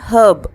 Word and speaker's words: herb: British Englishல herb அப்படின்னு சொல்லுவாங்க, அதாவது Hஐ ப்ரொனவுன்ஸ் பண்ணுவாங்க. American pronunciationல herb அப்படின்னு சொல்லுவாங்க, H is silent.